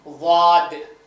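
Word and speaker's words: ض: இப்போ இத வந்து வாசிப்பது வந்து வாத் நுனி நாக்கு மேல்பல்ல இங்க இங்க பாருங்க இங்க வாய் பாருங்க மேல் பல்ல வந்து தொடரும் அப்படி வாது வாது வாத இது வந்து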